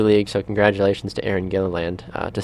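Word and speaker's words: Gilliland: to her I don't know how to exactly pronounce her last name so Aaron please forgive me but uh gilland or gilland gilland yes thank you Baxter I should asked you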